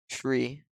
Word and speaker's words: tree: then also for numbers the number three is pronounced tree the number five is